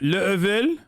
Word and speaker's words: Laval: It's pronounced Level?